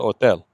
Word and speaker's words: hotel: Remember, don't pronounce the H. A mi nombre, Ana Pérez. ¿Cuál es la dirección del hotel?